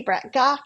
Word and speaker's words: Brett-Gach: and before we go to self introductions Vicky Bret gaw you guys have seen here before and I